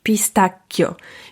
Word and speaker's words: pistacchio: już wiesz że wybierzesz pistacchio Ja wiem że tam czasem kusi nas żeby wymówić coo i żeby było to miękkie ale ty masz już